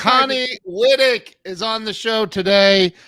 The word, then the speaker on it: Wittich: I know, but I didn't know that the CH was I thought it was and it's Connie Wittich is on the show today.